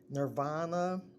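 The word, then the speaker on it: Knirvana: her name is um Nirvana it starts with a K the K is silent um is nirvana 717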